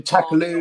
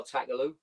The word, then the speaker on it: Takaloo: It rhymes with Vindaloo.